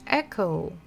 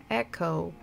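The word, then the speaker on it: эхо: last one is all in English echo echo not exactly the same I know but very similar because again not so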